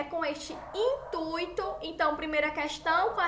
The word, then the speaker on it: intuito: É com este intuito.